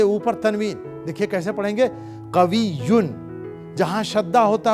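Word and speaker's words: قوي: Strong masculine के लिए कवियुन.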